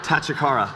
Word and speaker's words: Tachikara: And then how do you pronounce that? Tachikara.